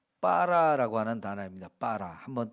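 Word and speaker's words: בָּרָא: 아 이 히브리어는 예 빨아 라고 하는 단어입니다 빨아 한번 따라 할까요 빨아 에 이 단어는 좀 약하게 반 발음을 하면 봐라 이렇게 하지만은 사실은 거기에 좀 강하게 강하게 발음을 하도록 표시가 되어 있어서 빨아 이렇게 우리가 음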